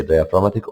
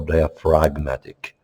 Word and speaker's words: diaphragmatic: You can say diaphragmatic or diaphragmatic. This is depends British or American pronunciation.